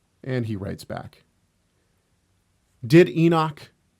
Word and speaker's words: Enoch: And you say, "Well, it's Enoch. You know, it's the Hebrew for Enoch.